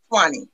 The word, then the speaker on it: Swanee: Swaunee. Okay, thank you. Swanee, yeah, Swanee. Like the Swanee River.